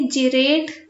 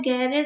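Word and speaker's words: gerade: वैसे जर्मन है, इसको कुछ लोग जिरेड अनजिरेड बोलते हैं, लेकिन इसका प्रॉपर प्रोनाउंसिएशन जो होता है वो होता है गैरेड और अनगैरेड, क्योंकि ये जर्मन वर्ड है, ये इंग्लिश वर्ड नहीं है।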